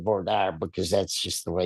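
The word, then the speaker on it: voir dire: So, uh, as after Bord, which is what we call it here, Verier is how it's pronounced in on the East Coast.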